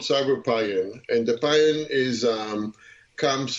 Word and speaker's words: Cyberpion: The company is called Cyberpion, and the pion is comes from chemistry, and